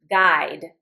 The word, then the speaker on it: guide: That's why if I write the word guide and I want this to say G, I actually put a U in here even though I don't pronounce it because I want the G sound, not the J sound.